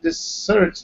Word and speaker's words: dessert: On the other hand, dessert is in the second syllable.